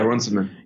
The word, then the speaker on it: Runciman: how democracy ends by David how do you pronounce the name Runciman yeah Runciman yeah and you you were mentioning something that